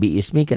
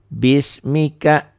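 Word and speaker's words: بِسْمِكَ: biismika i-ya enggak dianggap Jadi dibacanya Bukan biismika tapi bismika bismika bila dihentikan membacanya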